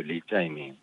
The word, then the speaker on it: 이재명: 리짜이밍이라고 불러요. 리짜이밍. 이제 이재명 이름에 대한 중국식 발음인 한국 중국 축구하는데 한국을 응원하지 않고 중국을 응원했다는 거죠.